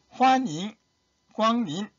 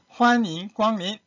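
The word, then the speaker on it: 欢迎光临: 그래서 어서 오십시오 하면은 환영 광림 환 할 때 올리십니다. 올리세요. 환영 광림. 우리 한국 사람들이 일성 발음할 때 우리는 어머니 하잖아요. 어머니 도레미입니다. 근데 중국의 어머니는 마마 높은 음이에요. 솔 1승입니다. 1승. 마마 마찬가지로 환인 광민 발음 주의하세요.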